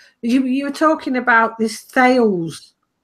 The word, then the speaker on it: Thales: were talking about this Thales. They like to call themselves TL or something stupid, but it's spelt Thales anyway.